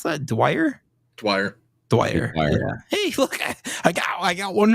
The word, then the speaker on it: Dwyer: How do you pronounce that? Dwyer.